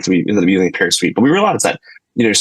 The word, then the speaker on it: Pear Suite: Yeah, Pear Suite is PEAR, like the fruit, and sweet.